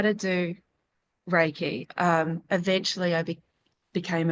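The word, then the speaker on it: Reiki: Rikai is Raiki, but I'd never heard of Raiki. And I was trying to pronounce it like I'm looking at it going, "What is Reichai?" And I felt this massive draw draw to go do Reichai, which I therefore learned was Raiki.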